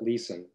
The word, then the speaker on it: Leeson: And he pronounced it Leeson, but it could almost be Lesson.